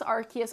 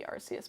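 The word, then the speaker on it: Arceus: find hilarious but like I pronounce archus archus and I know some people pronounce it arus and I think technically the official pronunciation might be arus but like I have always pronounced it archus and I'm not going to stop um Discord is chatting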